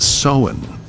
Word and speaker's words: Samhain: Now, it is spelled Samhain, but it's pronounced Samhain.